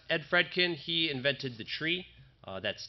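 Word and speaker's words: trie: fredkin he invented the tree uh that's t r i e um some people pronounce it try these days but he says it's tree so if you're doing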